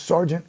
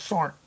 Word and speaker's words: sergeant: Can you just pronounce Sergeant right? It's not that hard. It's not SAR.